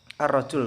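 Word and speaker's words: الرجل: Contoh, kata ar-rajul lebih sulit daripada kata al-walad, karena huruf lam pada ar-rajul diganti dalam pengucapannya dengan huruf ro langsung ya, tidak ada al, akan tetapi langsung masuk kepada huruf ro.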